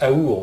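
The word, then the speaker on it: אור: En plus, ce mot, il se prononce autrement, il se prononce aour aussi, comme amour.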